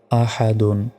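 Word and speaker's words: أَحَد: দাল দুই পেশ দুন আহাদুন এখানে থামলে শেষ অক্ষরে সাকিন হবে অর্থাৎ দাল অক্ষরের উপর সাকিন দিলে উচ্চারণটা হবে আহাদ আহাদ ওয়ালাম ইয়াকুল্লাহু কুফুয়ান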